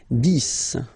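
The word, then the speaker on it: dix: 10, okay? So remember, final X here is pronounced like S, 10, 10, okay?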